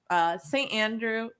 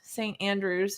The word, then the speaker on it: St. Andrew: We are at, if you did not know, St. Andrew United Methodist Church, not St. Andrew's, not possessive, nor plural, St. Andrew.